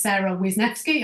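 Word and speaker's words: Wisniewski: can find me on LinkedIn my name is Sarah wisneski I'll spell it for you w i s for Sugar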